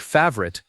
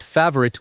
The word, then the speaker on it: favorite: It should sound like favorite, 2 syllables, not favorite with 3.